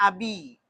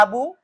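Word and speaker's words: أبي: yang mati berarti kasrah berarti bacanya abi gak boleh dibaca gak boleh dibaca abu abui gak Boleh. Ini salah kalau dibaca bui.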